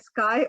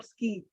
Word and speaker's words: SC&I: i was pronounced as sky or ski and and she she uh correctly told me that it was the sky so uh i i